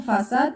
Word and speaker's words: façade: Pour certains mots, C si cédile comme façade et se prononce S.